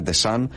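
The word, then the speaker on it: Deschamps: τα πινελάτρια του Εμενίκη Ντεσάμπ, νομίζω ότι προφέρεται όντως ο Ντεσάμπ. Παρότι τον λέμε Ντεσάν, νομίζω ότι προφέρεται Ντεσάμπ στην πραγματικότητα, αλλά δεν έχει και σημασία.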